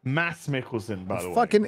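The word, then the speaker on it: Mads Mikkelsen: it's elon's Ron that just looks like Mar mads Mickelson mass mass it's pronounced Mass Mickelson is there a D in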